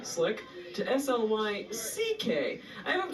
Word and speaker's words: Slyck: this year he went from spelling his name as s l y k slick to sly ck i